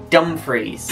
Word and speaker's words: Dumfries: And how do you pronounce that name? Dumfries. Dumfries. Nope. Dumfries. You're so close. It's Dumfries.